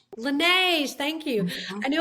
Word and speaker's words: Laneige: It's Laneige. Laneige. Laneige, thank you.